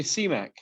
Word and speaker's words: Siamack: it so uh it's my wife calls me cmac you don't have to pronounce the a but if you were